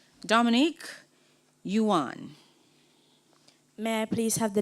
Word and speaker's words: yuan: m i c homeothermic that is correct Dominique Yuan may I please have the definition it's a basic monetary unit of China can you please say the word in a sentence I got to spend my yuan in China may I please have the part